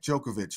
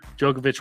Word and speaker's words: Djokovic: no vac joke Novak Djokovic or something no yeah D is silent yeah the the Big D in front is silent so he's going down